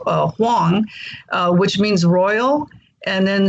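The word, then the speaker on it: 黄: My Chinese name is Huang, in Mandarin, Wang is pronounced Huang, which means royal.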